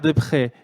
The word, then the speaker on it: Deprez: Donc, en fait, vous êtes respectivement Pierre Després et Carole Daran. Je prononce bien, Pierre ?